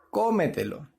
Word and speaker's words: cómetelo: que me de blog entonces cuál es la mayor fuerza en la primera verdad la primera sílaba que es la antes ante penúltima sílaba verdad cómetelo y tenemos ahí los en críticos que nos ayudan a diferenciar la barba entonces decimos que es una palabra sobre esdrújula continúa tú el cuadro